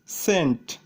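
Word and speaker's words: scent: উদাহরণ সমূহ, যেমন সায়েন্স, সেন্ট, ডিসেন্ট, এখানে সায়েন্সের এসসি পাশাপাশি থাকায় সি এর উচ্চারণ হয়নি। সেন্টেরও এসসি পাশাপাশি থাকায় সি এর উচ্চারণ হয়নি।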